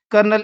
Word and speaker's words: colonel: उदाहरण के लिए ही इज ए कर्नल in army. यानी वह सेना में एक कर्नल है। लेकिन अब सबसे बड़ा सवाल यह है कर्नल में तो कहीं भी आर नहीं है। इसकी प्रोनंसिएशन कर्नल कैसे बन गई?